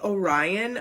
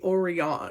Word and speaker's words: Orion: This name is supposed to be Orion, but people will say Orion.